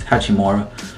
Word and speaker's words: Hachimura: It's Hachimura.